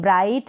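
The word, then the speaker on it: bright: का उच्चारण नहीं होगा ग यहां पर साइलेंट रहेगा अराई के बाद में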